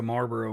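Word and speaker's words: Malboro: whoa wow yeah that was a marlborough mount i know that that's not spelled like the cigarettes but i have to pronounce it like the cigarette it is pronounced like cigarettes that's the inspiration from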